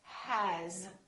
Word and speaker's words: has: For example, the word has. It's spelled with an S, but the sound is actually Z.